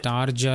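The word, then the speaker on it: Tarja: टाया, टारजा लिखा है उसको। टारजा को ताया क्यों बोल रहे हैं? ना आर का प्रोनाउंसिएशन हो रहा है ना जे का प्रोनाउंसिएशन हो रहा है, बस ताया। टारजा को ताया बना दिया।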